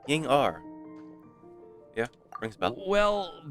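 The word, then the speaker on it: Yingr: Ying R.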